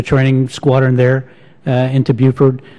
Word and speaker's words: Beaufort: to butcher the name I say Beaufort is at Beaufort Beaufort general roebling it's a nice Buford Buford okay and I saw what